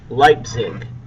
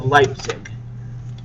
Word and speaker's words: Leipzig: the Battle of leig let me spell that for you l e i p zi G lipzig the Battle of lipsig that was going to